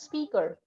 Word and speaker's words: speaker: The pronunciation is speaker. Say speaker. Speaker. Huh. Speaker. Yes, that's right. Drop that E, huh?